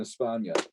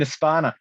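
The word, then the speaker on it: España: pronounce it live in espana how did i go live in aspana it's it's um that's just the way that the the the spanish say spain yeah so and i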